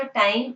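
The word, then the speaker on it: τ: sons का बीच का time interval है वो भी रेगुलराइज हो जाएगा because the acceleration of the electron is नाउ फिक्स सो लेट we take टाव इसको आप प्रोनाउंस करेंगे टा लेट वी टेक टा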